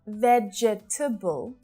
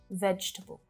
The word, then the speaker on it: vegetable: Not vegetable, just 3 syllables, vegetable.